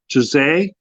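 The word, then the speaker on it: Turzai: Okay, so in your meeting with the speaker, let me make sure I pronounce the name right. Turzay, Turzay. Turzay.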